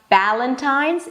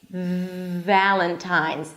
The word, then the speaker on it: Valentine: So it's not valentine, it's valentine. And to make sure that you're actually saying it correctly, hold out the V sound. If you can't hold it out, then it means that you're making a B sound.